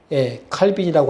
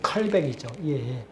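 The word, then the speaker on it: Calvin: 장로교가 칼빈이라고 하지만은 원래 발음으로 하면은 칼뱅이죠. 장 칼뱅이죠.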